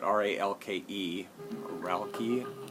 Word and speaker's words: Ralke: This is an album from Don Ralke, I believe you pronounce it, R-A-L-K-E, Ralke, I think.